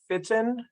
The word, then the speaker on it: Fitten: There are a few papers from, it is pronounced Jaime Fitten, F-I-T-T-E-N, in California, that look at vascular dementia and vascular cognitive impairment in Latinos compared to non-Latino whites.